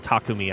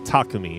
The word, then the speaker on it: Takumi: I think it's closer like how it's pronounced closer in Japanese or in Japan if you will which is like takumi right takumi takumi but then we get